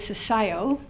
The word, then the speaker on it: CCIIO: head of the CCIIO, which I hear is CCIO, or at least that's what I've been told is how it's pronounced out here.